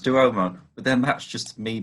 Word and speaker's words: Duomo: I'm sure it's pronounced Duomo, but then that's just me being pedantic.